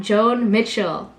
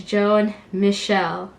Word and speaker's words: Joan Michel: every other day and it's not joan mitchell it's joan michelle and every time someone